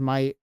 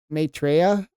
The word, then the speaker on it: Maitreya: I always pronounce this as my. I guess that's definitely wrong, but Maitreya, Buddha.